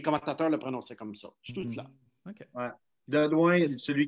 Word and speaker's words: Stützle: Stützle. Tout cela. Tout cela. Oui, ça c'est... Ça se prononce comme Marco Sturm. Tu sais, l'ancien joueur des coachs à Los Angeles en ce moment, c'est Stützle.